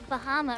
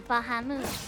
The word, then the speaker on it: Bahamut: And it's also like, with Bahama, or Bahamut, as is actually, I think, supposed to be pronounced.